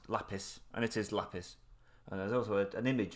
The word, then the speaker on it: lapis: actually did the 30-second check on how you pronounce lapis and it is lapis and there's also an image of what polished